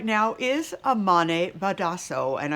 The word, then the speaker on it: Amane Badhasso: us right now is amane badasso and i hope miss badasso that i am pronouncing your name correctly you are pronouncing it correctly thank you very much